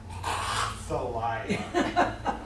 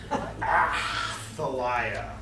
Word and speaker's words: Athaliah: The name is pronounced, do this way, Athaliah. Athaliah. Yep. sounds a lot like Athaliah, but it is Athaliah.